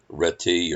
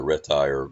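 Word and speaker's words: Réti: played there I think some people say you say red T or red tire you know arrete I've heard it pronounced in many different ways most Americans say Richard breath ready are ready ready ready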